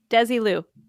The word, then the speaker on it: Desilu: Desilu.